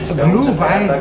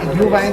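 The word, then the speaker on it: Glühwein: you order Adrian I ordered how do you pronounce that how said glue Vine ah GL Vine GL Vine sry it's m mold wine mold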